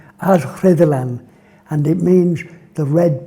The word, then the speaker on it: Rhuddlan: Now then, if you said to me, "Could you talk about Rhuddlan?"